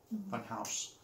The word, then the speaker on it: Funhaus: Funhaus. So, like, spelled like German. Funhouse.